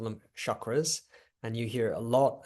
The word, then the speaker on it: chakra: French people call them chakras. And you hear a lot, like almost every time I see someone advertising a chakra course, they always pronounce it chakra, and it's cha, okay? It's a chakra.